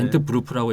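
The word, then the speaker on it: Entwurf: 아, 저 기투라는 저 엔트워프 저기 엔트워프. 독일어면 엔트워프가 아니라 네. 엔트브루프라고 읽어야 되는 네, 네.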